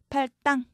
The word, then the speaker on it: 팔당: 팔당. 땅으로 소리 나지만 당으로 적습니다. 그 다음 발음상 혼동의 우려가 있을 때는 음절 사이에 붙임표 쓸 수 있습니다.